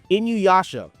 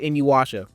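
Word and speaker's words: Inuyasha: Inuasha. Yes, Inuasha. That is that is correct.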